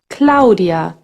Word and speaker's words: Claudia: For instance, Claudia becomes Claudia in German. See how you hear every single letter?